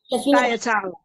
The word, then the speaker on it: Thyatira: I mean, to pronounce it for me, woman of God. Thyatira.